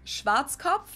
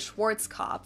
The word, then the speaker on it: Schwarzkopf: In German, we pronounce it Schwarzkopf, which literally means black head. Schwarzkopf. English native speakers usually pronounce it Schwarzkopf or Schwarzkopf or something along those lines.